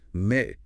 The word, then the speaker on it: mais: Consider French spellings like mais, but, and fait, fact, both pronounced ending in an A, the final S and T are silent relics.